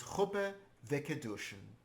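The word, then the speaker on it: חופה וקידושין: We actually don't pronounce the last yud. It's chuppah vekedushin, a marriage ceremony.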